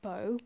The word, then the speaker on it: Boh: And then I've got Boh lemon iced tea. My boyfriend actually told me it's pronounced Bo, but I just don't like saying it. I like saying Bo.